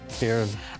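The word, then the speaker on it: Ciarán: What do you call the thing over the A again? A fada. A fada. It's Storm Kieran. Kieran, got it. Kieran.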